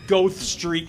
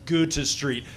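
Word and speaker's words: Goethe Street: Park it's Millennium Park it's not go street it's go to Street please do that because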